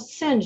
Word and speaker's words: Singh: Singh. Did I say the last name right? It's pronounced Singh, but it doesn't really matter.